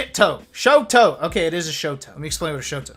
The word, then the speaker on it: Shoto: right it's not like chateau right i always mispronounce oh shadow shoot toe shoto okay it is a showtime let me explain